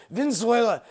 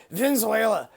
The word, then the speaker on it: Venezuela: back to that country God can't even say Venezuela it's Venezuela Venezuela anyway this Mumble growl